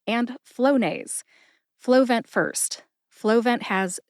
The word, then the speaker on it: Flonase: Flonase also has 2 syllables. Flow like water flows out of a faucet, and nase as in nasal inhaler. Put both syllables together and you get Flonase. Emphasize flow. See if you can hear the emphasis when I say it again.